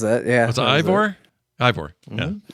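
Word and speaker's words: Eivor: Ivor. Mm-hmm. Yeah. Like Igor, but with a V.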